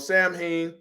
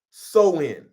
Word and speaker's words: Samhain: Halloween origins date back to the ancient festival of Samhain, I was pronouncing that wrong, Samhain.